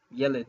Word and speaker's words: yeled: And then, or yeled. Yeled is the proper modern pronunciation, yeled. And so to say a girl, you would say yeleda.